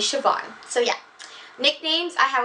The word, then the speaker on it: Siobhan: But it's Siobhan. It's not pronounced Siobhan or Siobahan or anything like that. My name is Siobhan.